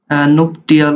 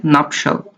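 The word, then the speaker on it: nuptial: ম্যারেজের adjective হচ্ছে এটা, এই প্রোনাউন্সিয়েশনটা অনেকেই মিসপ্রোনাউন্স করে থাকে, অনেকে বলে নুপটিয়াল, অনেকে বলে নুপশিয়াল। আসলে এটার কারেক্ট স্পেলিং বা কারেক্ট যে প্রোনাউন্সিয়েশন সেটা হচ্ছে নাপশাল।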